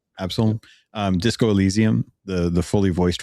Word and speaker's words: Absolum: Absalom, or Absolum, I think is how it's pronounced. Absalom.